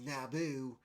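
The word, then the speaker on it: NABU: Obviously, it's pronounced as Naboo as in Star Wars Episode One.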